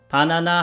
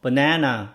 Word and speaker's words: banana: 치즈라고 하면 모르고 치즈 이렇게 얘기해야지 알아듣고, 바나나 하면 못 알아듣고 banana 이렇게 얘기해야지 사람들이 알아들어요.